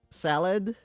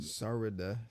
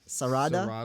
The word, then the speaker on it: Sarada: And then like Salad. Oh my goodness. How do you say her name? Sarada. Sarada? Sarada, yeah. Sarada.